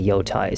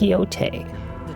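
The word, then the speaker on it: Yōtei: I I still want to say Yoai. Somewhere in my mind it's like I still want to say Yai, but then people be like, "Oh, it's Yote."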